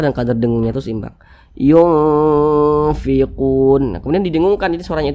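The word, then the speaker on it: يُنْفِقُونَ: Jangan dibaca yungfiqun, jangan, tapi seimbang di tengah-tengah. Yungfiqun. Nah, kadar samar dan kadar dengungnya itu seimbang. Yungfiqun.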